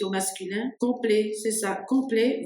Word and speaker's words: complet: masculin complet c'est ça complet vous prononcez pas le T parce qu'il y a pas de e après le T hein allez-y très bien